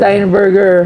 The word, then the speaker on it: Steinberger: ano bang pronunciation dito steinberger stein burger magkapatid yan stein at saka burger Oo magkapatid magkapatid Oo